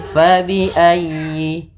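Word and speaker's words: فَبِأَيِّ: Fa, hati-hati jangan dibaca dengan pa. Kemudian dalam ayyi ditekan huruf ya-nya karena dia tasdid, dan huruf ya termasuk huruf lin yang lembut, di dalam pelafalannya jangan dihentakkan.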